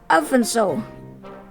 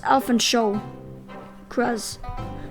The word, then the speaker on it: Alphonse: Pronouncing the sound is very important. He gets offended if you pronounce it as Alfonso, because it's Alphonse Cross.